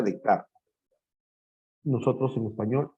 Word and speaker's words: Descartes: El máximo representante del racionalismo es Descartes, o Descartes, se pronuncia Descartes. Nosotros en español, Descartes.